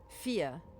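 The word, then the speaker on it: Fiadh: Camela Mani, Google Uh f i a d h fear. Okay. So we've got fear.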